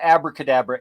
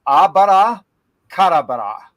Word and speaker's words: abracadabra: we're mispronouncing it in the English. It's not abracadabra. It's abara karabara.